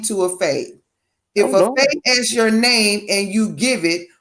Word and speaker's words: fae: Now, I know there was a short description because they really didn't have a big description of fae, except for the fact that fays are not fairies.